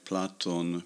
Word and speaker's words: Plato: transliteration it is EO just like platon becomes plateau and then in English the long vowel shift has made plate Plato and Io Io because